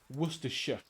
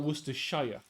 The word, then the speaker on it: Worcestershire: In the same way that, you know, it's Worcestershire, not Worcestershire.